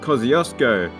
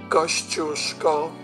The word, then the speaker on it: Kosciuszko: instance our highest mountain everybody calls mount kosciuszko but i'm sure that's not right ghost your skull there you go anyway back to the